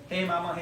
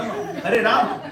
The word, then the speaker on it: Hare Rama: No, it's Hare Krishna. Hey mama, mama, mama, hey, hey. No, Hare Rama, Hare Rama. Pronounce clearly.